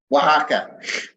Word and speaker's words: Oaxaca: occur oh actually how do you say it Oaxaca there we go Englishmen trying to learn Spanish